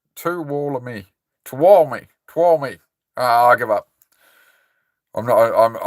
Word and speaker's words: Tuolumne: Tuolumne is how you pronounce it. Tuolumne.